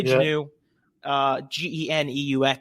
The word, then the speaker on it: Geneux: um it's pronoun so my dad pronounces it Jano I I say it's Janu it was Janu my